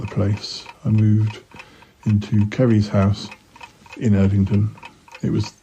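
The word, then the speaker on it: Ceri: or both, and because his name is Kerry, it was put on the wrong list.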